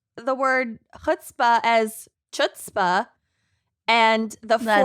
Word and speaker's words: chutzpah: it's chutzpah. Well, Idiot. I, in my mind, pronounced misled as misled, which we've Yes.